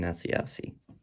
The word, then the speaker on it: Asiasi: Round 3, Dalton Keene and Devin Asiasi.